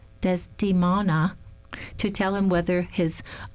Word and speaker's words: Desdemona: about why Othello has turned against him, beseeches Desmona, I'm saying that wrong, Desdemona, to tell him whether his offense be of